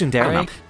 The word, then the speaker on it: tsundere: I think it's tsundere. Tsundere? Yeah, it's sun and then the word dere.